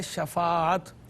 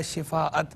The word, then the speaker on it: شفاعت: دوسرا جو تلفظ کی غلطیاں بھی تھیں, آپ نے ایک بڑا مشہور لفظ ہے شفاعت, شین کے زبر کے ساتھ ہے, آپ نے اس کو پڑھا شفاعت.